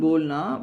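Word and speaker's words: बोलना: ஸோ அப்போ காம் அப்படின்னா கமல், அது ரெண்டுலேயும் வந்து இருக்கிறது வந்து not pronounce when it occurs medially, such as kamara, room, bolna, to say. The actual pronunciation of these words stand as kamra and bolna, but it is audible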